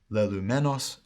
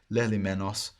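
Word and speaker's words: λελυμένος: Lelumenos, lelumeni, lelumeno, lelumenon, lelumenoi, lelumenon, lelumenois, lelumenus. With the modern pronunciation, lelimenos, lelimenu, lelimeno, lelimenon, lelimeni, lelimenon, lelimenis, lelumenos.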